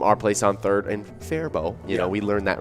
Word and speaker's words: Faribault: a win from our place on third and faribault you know we learned that recently that's how